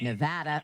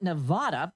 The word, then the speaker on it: Nevada: The state of Nevada, not Nevada, also makes the US captioning company's list.